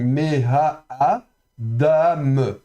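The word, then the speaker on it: מֵהָאָדָם: aleph qui est muet, donc on prononce quand même la voyelle en dessous, donc me-ha-a, dam, donc dalet avec kametz et même final, me-ha-adam, ok.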